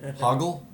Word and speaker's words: Hoggle: It was Hoggle. Hoggle, yeah, because Yeah, they get his name wrong a lot.